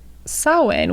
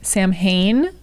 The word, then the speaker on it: Samhain: the way okay so Halloween and sewing which is spelled it looks like Sam samhaine so if you're like what saw when I've never heard of